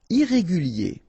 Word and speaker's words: irrégulier: Irrégulier. Okay, remember, I-E-R at the end of your word here, it will be ye, okay?